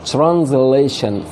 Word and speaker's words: translation: translation. شوف بقولها ازاي؟ translation translation translation translation. يبقى ديت تي وبعدها الار بنطقها زي التشه كده، التشه.